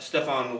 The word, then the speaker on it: Stefan: Nick Allegretti had two two offensive snaps before today, and and uh Stef- do you pronounce it Stefan? Yeah, he goes Stefan.